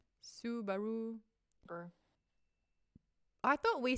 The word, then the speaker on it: Subaru: Oh, it is Subaru. It's like when it goes ooh baloo in one of the Disney movies, it's Subaru.